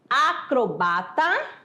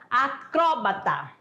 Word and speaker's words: acrobata: Então, ó, você vai encontrar, né, algumas pessoas falando assim, acrobata ou acróbata. As duas palavras estão corretas na nossa língua portuguesa, são aceitas.